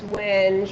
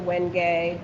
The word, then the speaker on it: wenge: That's wenge or wenge. People pronounce it differently.